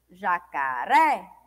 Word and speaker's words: jacaré: E é a penúltima sílaba. Então, é uma palavra paroxítona. Olha só. Jacaré.